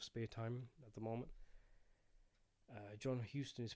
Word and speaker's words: Huston: John Huston is pronounced Houston, Texas, like Houston, Texas.